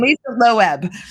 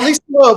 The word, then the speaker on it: Lisa Loeb: And Lisa Loeb. No, Lisa Loeb.